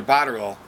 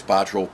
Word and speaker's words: Botterill: By the way, it's Botterill. Please forget the E. He gets very upset. It's not Botterill. It's Botterill. Botterill? Botterill. The E silent? The E is silent.